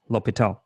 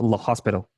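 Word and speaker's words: L'Hôpital: talk about what means number one this is pronounced Lal not La Hospital okay so whatever you have with this one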